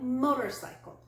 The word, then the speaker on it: motorcycle: the first syllable pillow let's take a word like motorcycle four syllables we stress the first syllable and then a little bit of stress on the third syllable motorcycle not all languages use